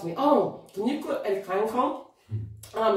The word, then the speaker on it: Edikang Ikong: It's called Edikang Ikong. Edikang Ikong.